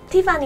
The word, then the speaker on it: Tiffany: For example, a Japanese friend of mine used to say my name wrong when we first met. My name, Tiffany, is a little bit hard to remember, Tiffany so many people would think I was Stephanie.